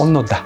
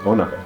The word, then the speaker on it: Onoda: Is that how it's pronounced? Onoda. Onoda. Okay.